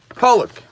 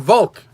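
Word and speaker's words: Falk: So the author of the Me'iras Einoyim is a well-known Rav called Rabbi Yeshua Polak, or Rabbi Yeshua Volk. Okay, these are the two ways to pronounce his name.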